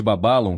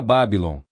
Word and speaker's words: Babalon: Este nome secreto é a pronúncia correta de Babalon que ele recebeu enquanto trabalhava com o 12 Air. Antes disto, ele utilizava a forma bíblica Babylon.